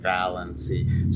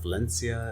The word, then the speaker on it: Valancy: There's manuscript evidence that it's Valency, like it's capitalized VAL in the manuscript, Okay. and then the EN, and then the C, like Valency. So it's Valency. And emphasized, so like it's Valency, it's not Valencia, it's not Valency, it's Valency.